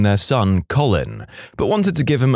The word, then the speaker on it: Colin: with a kid named Colin and our physics teacher constantly pronounced it colon like how many times does he have to correct you lady in France there